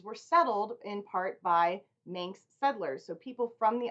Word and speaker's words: Manx: It took me a long time to figure out how to say that and what the proper pronunciation of it is, but it is Manx. I kept saying minx for whatever reason.